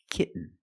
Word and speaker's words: kitten: You can say kitten, but most people say kitten. You do the stop T, kit. You don't release, and then you fall to an N. Kitten. When you make the stop T, the tongue is up, almost in the N position, so you don't have to change much. Kitten. Kitten. But don't say kitten.